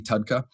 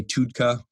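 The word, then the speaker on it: TUDCA: in capitalized letters technically it's supposed to be tadka uh some people say tudka you can go back and forth on how you want to pronounce it I like to say uh tadka but tadka stands for tauroso deoxycolic acid and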